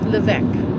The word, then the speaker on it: Lévesque: Lévesque. Yeah. René Lévesque.